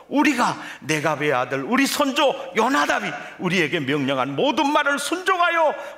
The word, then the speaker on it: 요나답: 근데 왜 여기는 요나답인가? 히브리어 발음상 호는 묵음입니다. 그래서 여호람, 요람, 여호나답, 요나답 같은 이름입니다.